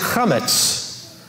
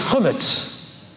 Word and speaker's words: chametz: For whoever eats leavened bread is chametz. Okay, from the Ashkenazi, it's chumetz. Okay, chametz or chumetz. Depending on how you pronounce the vowel there.